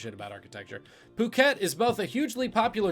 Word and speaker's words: Phuket: at 46 seconds for the first time ever phuket that's how you pronounce that don't pronounce it wrong is both